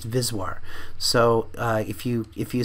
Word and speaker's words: VSWR: ratio the VIS waar it's always pronounced vis war so if you if you say VSWR you'll sound like a like an amateur you want to save is war so the vis war is the V Max